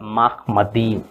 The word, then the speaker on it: Machmadim: ठीक है, और वो माखमदीम वर्ड को माखमद कहते हैं, और ईम जो है लास्ट में, जो ईम है, स्पेलिंग ऐसा होगा माखमदीम, MACHMADIM, माखमदीम। ईम को वो हटा देते हैं।